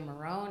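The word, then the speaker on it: Morón: If you haven't seen, it's spelled like moron, but there's an accent over the second O, which changes the pronunciation.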